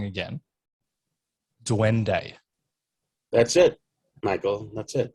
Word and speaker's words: duende: We mentioned off air, and please correct me if I say it wrong again, Duende.